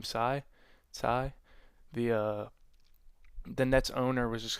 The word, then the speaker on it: Tsai: I think Joe Tsai, I think is how you pronounce his name, Tsai, the Nets owner was just kind of like,